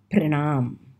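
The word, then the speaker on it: प्रणाम: respects to them and you go and say pranaam pronounce the word for wishing older people or addressing respected people and the word is pro na ma Cranham pranaam is same thing as namaste but we use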